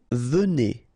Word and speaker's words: venez: Vous venez. Okay, so Z at the end combine will give you the sound E, and here you've got venez.